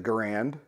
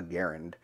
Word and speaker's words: Garand: clear to everybody that he wanted it pronounced the same way as his name and that is it rhymes with aaron so this is a garand in the end it's